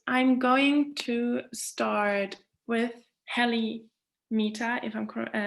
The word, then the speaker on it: Helly Mehta: Yeah, you pronounced me correctly. My name is Helly Mehta, and I am from the Department of School of Public Policy.